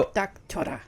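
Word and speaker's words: 입닥쳐라: So it's oh, you kind of got it. So it's "ip Eep, dak duck, cho cho, ra." ra. So Eep, duck, chora. you actually got it pretty Sort down of. pretty well, because the thing is that with their L/R syllable, that's exactly what it sounds. So that's not la or ra.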